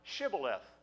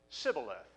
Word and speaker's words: shibboleth: they said unto him say now shibboleth and he said sybileth for he could not frame to pronounce it right it's like chinese trying